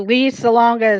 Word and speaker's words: Lea Salonga: But Lee Salonga is spelled Lea, then her last name spelled Salonga.